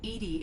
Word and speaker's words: EDI: the airlock open why are you named edie edie is the phonetic pronunciation of edi that is an acronym for